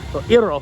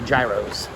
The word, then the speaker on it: gyro: Greek bakaba Greek yep iro is a correct way to pronounce it but Americans say Gyros worked for greeter about